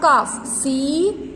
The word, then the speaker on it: calf: तो cow के young one को क्या बोलते बेटा, calf, CALF. Okay, calf. Here L is silent.